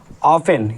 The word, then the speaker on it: often: अब देखो हमारा क्या है, ये क्या बताया था हमने ऑफेन, इसको क्या पढ़ते हैं ऑफ्टन नहीं पढ़ते हैं, क्या पढ़ते हैं ऑफेन, और इसको क्या पढ़ेंगे सॉफेन, और इसको क्या पढ़ेंगे लैच, ठीक है।